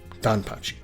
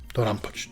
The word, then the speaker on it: DoDonPachi: Real quick, let's look at that I at the end of Dodonpachi. It's silent in all Japanese pronunciation, but I've heard English speakers say Dodonpachi and Dodonpachi. It's kind of like karaoke and karaoke.